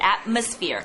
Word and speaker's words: atmosphere: Atmosphere. Atmos. Good. Atmosphere. 분위기. 예. 분위기. 여기스펠링이 그 PH가 들어가잖아요. 중간에서. 그 발음이 F 발음으로 해야 돼요.